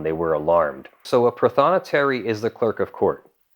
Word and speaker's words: prothonotary: top notary the most important notary it is pronounced prothonotary and they are the quintessential they are the